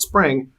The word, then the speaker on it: Xpring: So now, bring this full circle and to your initiative called Spring, or spelled XPRING, but Correct. pronounced Spring if I have it correctly.